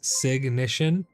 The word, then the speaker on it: signition: Like ignition, it's signition.